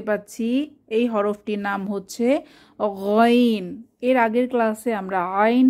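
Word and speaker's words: غ: মাখরাজটা ভালোভাবে বুঝতে পেরেছি কণ্ঠনালীর শেষ ভাগ থেকে আওয়াজকে পেঁচিয়ে বের হবেন এরপর আমরা দেখতে পাচ্ছি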